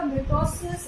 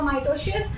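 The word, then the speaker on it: mitosis: एक होता है आपका मिटोसिस, एमिटोसिस होता है।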